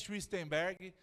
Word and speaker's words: Schwichtemberg: Eu sou o Schwistenberg, né, se você quiser aprender como pronuncia, está escrito ali, Schwistenberg.